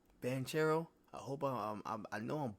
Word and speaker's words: Banchero: you pronounce his name benanchero is how you pronounce his name banchero I hope I know I'm butchering these dudes